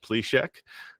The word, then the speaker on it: Plsek: My last name is, if you saw it, you wouldn't know how to pronounce it, but it's pronounced Plsek.